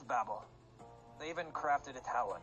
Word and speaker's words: Babel: Babel I'll spell that don't you mean the Babel no it's babble they even crafted a